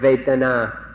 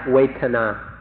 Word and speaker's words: Vedana: So we'd like to request, we implore you in fact, to remember this word Vedana, Vedana, or in Thai, Vedana. It's spelled in Roman letters V-E-D-A-N-A, Vedana or Vedana.